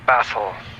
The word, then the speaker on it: Bastl: So Schmooster's saying he doesn't pronounce the T. Bastl. No, it's Bastl. Like the Bastl Castle. Like castle. It's like how I say mountain. I don't say the T. You just kind of pause there for a second.